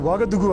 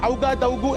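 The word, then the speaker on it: Ouagadougou: Correct pronunciation വാഗദുഗു ആണ്. പുതിയത്തെ പേര് Burkina Faso. പഴയ പേര് അപ്പർ വോൾട്ട ആണ് ഫ്രഞ്ചിൽ. സർ ഔഗാദൌഗു എന്നല്ല പറയേണ്ടത്, വാഗദുഗു. ഔ വേണ്ട. ഓ യു എന്ന് എഴുതുന്നത് ഫ്രഞ്ച് ഭാഷയിലെ വാ ശബ്ദമാണ്.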